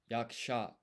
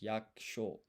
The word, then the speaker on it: 役者: 役者、 Oh, yaksha. Ah, of course, this is ya, not yo. So this is, and this yu and ku is not pronounced. So this is yaksho.